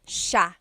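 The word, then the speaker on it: siya: it should be pronounced but it's actually pronounced Sha Sha so the SI i y it's a sha sound sha and then another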